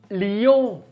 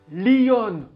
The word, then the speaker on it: Lyon: france fait les ion li ion pas lionne mais li ion li ion en 2016 il y